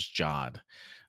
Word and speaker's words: Jod: First, I was trying to figure out how to pronounce his last name, but it's Jod.